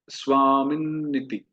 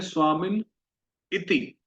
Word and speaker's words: स्वामिन्निति: तो हम प्रायः इसको बोलते हैं स्वामिन इति, है ना। स्वामिन एक बोलते हैं, इति एक बोलते हैं। पर इसमें दो न है तो इसको हमें बोलना चाहिए स्वामिन नीति।